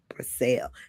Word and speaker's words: Brassell: tonight or this evening, we are graced with the presence of Iesha Brassell.